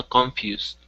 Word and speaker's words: confused: Yeah, it goes straight from the K to the N, and then the emphasis is on few, so confused.